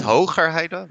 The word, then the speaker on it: Hoogerheide: we're with Vincent Hoogerheide. Did I pronounce that correct, Vincent? It's pretty good. Yeah, thank you. From Utrecht University, the Netherlands. That's also correctly pronounced? No? So it would be Vincent Hoogerheide with a Okay.